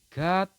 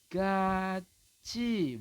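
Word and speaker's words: 같이: Anda akan membacanya adalah gati. Seperti itu ya. Gati, tetapi dengan aturan ini, dengan adanya aturan nomor 13 ini, maka Anda membacanya adalah gaci, bukan gati ya, tapi gaci, teman-teman.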